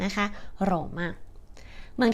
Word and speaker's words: Roma: คะ ว่า ชื่อ โรม แต่ จริง ๆ ชาว อิตาเลียน เรียก ว่า โรม มา โรมะ อย่า ลืม ออก เสียง ตัว แอ ให้ ชัด ๆ นะ คะ โรมะ เหมือง ที่ 2 ก็